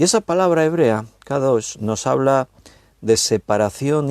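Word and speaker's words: קדוש: hemos leído, santo, santo, santo, esa palabra es kadosh. Te la voy a deletrear para que sepas cómo se escribe para los que toman nota.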